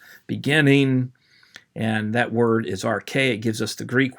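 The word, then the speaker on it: ἀρχή: Arche is how it's pronounced.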